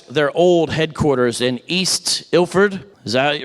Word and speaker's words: Ilford: tragic story that's their old headquarters in East ilford is that right that's how you say it